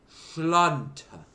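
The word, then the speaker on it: Sláinte: Schlanta. That's how you say it. You say a Schlanta.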